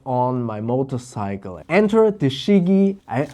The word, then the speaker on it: Chigee: my motorcycle enter the shigi I I hope I pronounce it correctly it's c h i g g e e shigi a io5 play before